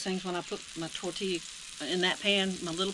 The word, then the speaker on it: tortilla: it tor tortilla and I know it's not pronounced that way it's tortilla it's just for fun same thing with the